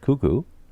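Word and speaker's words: Koekkoek: k k OE k I don't know it's pronounced kuku really and his first name is Slater that later kuku that's incredible Nate got a goal for Tampa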